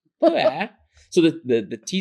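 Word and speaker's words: pu-erh: Am I pronouncing it right? Po pu. Yeah. Per. So, uh sounded like Moira. Did you hear that? Per.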